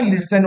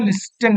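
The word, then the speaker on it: listen: एस टी ई एन इसका प्रशन जो होता है लिसन होता है लिन नहीं होता टी जो है साइलेंट होता है टी को नहीं पढ़ते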